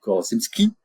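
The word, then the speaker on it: Korzybski: La carte n'est pas le territoire hein, c'est une citation d'Alfred Korosski. Voilà pour le prononcer correctement.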